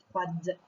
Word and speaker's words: froid: par exemple, de l'eau froide. Et bien ici, le glaçon est froid, donc on n'entend pas le D, mais il est déjà prêt pour s'il y en a besoin après.